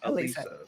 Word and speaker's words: Alysa: Jo Lee from Honolulu Alisa yeah and uh sorry I mispronounced the name uh because I'm no reading it um well it's spelled Alysa but it's pronounced Alisa yeah um potato potato